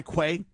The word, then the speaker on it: Quay: Steven, I think it's key is how you say it. Q A Y Quay.